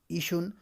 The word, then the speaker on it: ایشان: اس کے بعد ہے ایشن، یہ ایشان ہے، تلفظ اس کا ایشن کیا جاتا ہے پیش کے ساتھ۔ تو لکھا اسی طریقے